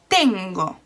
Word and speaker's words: tengo: first syllable for example have is tengo the same again it's on the second to last syllable so that's like normal